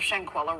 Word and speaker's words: Shanquella: And turning to Mexico, where Officials have yet to release new details surrounding the death of Shanquella Robinson.